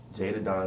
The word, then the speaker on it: Je'Dah Don: Je'Dah Don is how you say her Don.